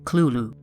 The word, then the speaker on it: Cthulhu: This word is supposed to be a completely non-human word and there's no correct way to pronounce it. However, Lovecraft wrote that the closest pronunciation is culu.